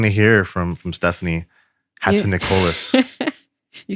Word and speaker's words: Hatzinikolis: are they going to hear from from stephanie hatson nicolas you said it right yay uh well i